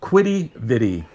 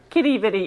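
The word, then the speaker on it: Quidi Vidi: We still don't know how to pronounce is it Kitty Viddy or Quidditty Vidi? Kitty Viddy.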